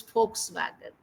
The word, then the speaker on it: Volkswagen: and Volkswagen it is Volkswagen Volkswagen it is starting with v but then it is Volkswagen F sound will come okay then por por